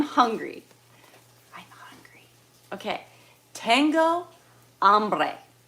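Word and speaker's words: hambre: I'm hungry okay Tango amre the H is silent but it's h a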